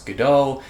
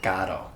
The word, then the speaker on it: Godot: you've seen my earlier review, I used to pronounce Godot, but I've recently been told that the author himself pronounced it Godot.